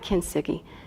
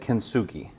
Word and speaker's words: kintsugi: It's a Japanese word, and it Okay. has different pronunciations. Kintsugi, depends Okay. on who you ask. And I actually looked at all those versions, and they're all accurate pronunciations.